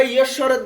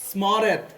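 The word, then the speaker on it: স্মরেৎ: তো এটাকে তোমরা ঈশ্বরেত বলো, কি বলো? ঈশ্বরেত বলো, বলো না? হ্যাঁ। তো ঈশ্বরেত কেন বলবে দেখো, এইখানে যুক্ত বর্ণটাতে কি কি আছে? ম। তাহলে দন্তস্বকে কিসের মতো উচ্চারণ করতে হয়? চর মতো করে। তাহলে এটাকে স্মরেত কি? স্মরেত কি? স্মরেত। এখন তো তোকে আবার কিসের মতো? তোর মতো। তাহলে এটাকে উচ্চারণ করলে কি হবে?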